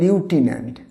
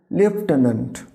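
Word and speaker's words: lieutenant: এর প্রোনাউন্সিয়েশনের সঙ্গে এর স্পেলিংয়ের একটা ডিফারেন্স আছে, এটাকে দেখলে যেন মনে হয় লিউটিন্যান্ট, এটা লিউটিন্যান্ট না, উচ্চারণ হবে লেফটেন্যান্ট।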